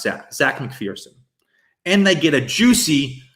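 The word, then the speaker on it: Zech McPhearson: name is spelled z-e-c-a looks like zac but i actually believe it's pronounced zach mcpherson and they get a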